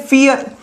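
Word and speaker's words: vier: फियर। Four को फियर। भले ही ये वी है बट व को फ़ प्रोनाउंसिएशन करते हैं जर्मन में।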